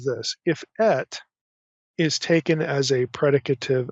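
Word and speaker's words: את: comment about our little two particle word it's pronounced ET so it's olav ET so when I say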